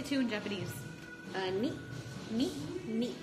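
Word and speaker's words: 二: Ni.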